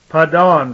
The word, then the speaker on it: Padan: That was called, but the pronunciation was Padan. Like we remember, Adam was called the Adon. The dawn, the morning star, the bright and morning star. Padan, from an unused root, meaning to extend.